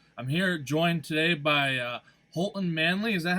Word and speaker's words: Holton Manly: I'm here joined today by Holton Manley. Is that how it's pronounced?